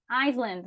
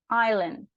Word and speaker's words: island: momentos, há anos atrás, eu falava Iceland, né? Eu pronunciava esse S, mas esse S ele não tem som, tá? Aqui nessa palavra ele é silencioso, ele é mudo. Ele é uma letra que eu não vou pronunciar. Então a gente vai falar island, island, island.